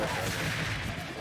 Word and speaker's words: Shangrai: Really good read by Shangrai. But how do you pronounce his tag again? Shangrai. Shangrai? Shan? Like Shan? Like okay. Shan Yu almost? But Shangrai. Shangrai. Almost like Shanghai, but like Shangrai.